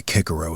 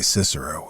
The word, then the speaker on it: Cicero: Well, I I admit that I don't agree with the new pronunciation. I never did. A lot of nonsense in my opinion. Making boys say kickaro at school for the rest of their lives. They'll say Cicero, if they ever say it at all.